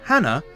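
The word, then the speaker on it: 花: But the pronunciation of the word Hana, meaning flower, is exactly the same as the pronunciation of the word Hana, meaning nose.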